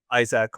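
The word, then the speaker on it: Isack: I think a lot of people are talking about the rookies of Kimi and Isaac or Isaac. I think Isaac is how you say it actually.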